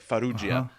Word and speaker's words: Farrugia: It's a contemporary artist named Manuel Farrugia. I think that's how you pronounce it. It looks like Perugia, but it's like Farrugia.